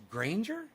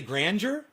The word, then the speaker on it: Granger: yeah it does happen you're the first person to pro out right without the i on the first try at that to pronounce pronounce granger what did people say grandeur grandeur you must hate that you're definitely granger the ranger bro definitely